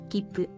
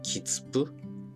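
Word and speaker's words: 切符: For now, just remember that when you see the small つ, you pause ever so slightly before pronouncing the next consonant. Kippu. 待って. Not a kitsupu.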